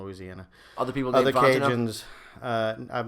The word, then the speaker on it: Fontenot: You say it in 3 syllables. You say we say Fontenot. Fontenot. You said it, which you did it right. We just say Fontenot like it's 2 syllables, but Fontenot. it's not wrong to say Fontenot.